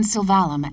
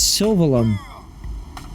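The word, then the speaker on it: Sylvalum: Her usual residence is in Silvalum at the Delusian's North Summit. That's not how you pronounce that. It's Sylveum. You literally have an entire game's worth of script that pronounces it Sylveum.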